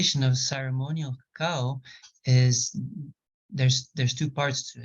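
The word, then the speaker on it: kakaw: So also the Mayan word for cacao is cacao, which is spelled K-A-K-A-W.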